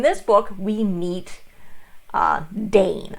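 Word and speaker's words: Daine: book we meet uh dane i believe it's how they pronounce i always for some reason i pronounce it diane in my head um as it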